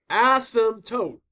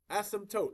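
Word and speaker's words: asymptote: So, as now as tote as tote like the P is silent like like pterodactyl.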